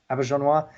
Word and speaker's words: Auberjonois: Well, it's French, so Auberjonois, who unfortunately, I think he passed away earlier this year.